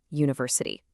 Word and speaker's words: university: But we say a university. Why? Because the sound is u which is a consonant sound.